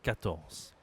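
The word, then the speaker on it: quatorze: 13 14 Bien attention à dire Z. D'accord ? 14 15 Attention ici à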